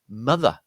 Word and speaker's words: mother: Stresses on the first syllable, so that again, this here is a short U. This here is a short U in effect because it's stressed. Look at this one here, butter, yeah. Again, we've got that short U followed by a schwa sound.